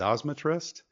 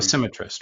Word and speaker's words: dosimetrist: Is it a dosmetrist or how do you? Dosimetrist, right? So Dosimetrist. Okay, yeah, so tell us about that.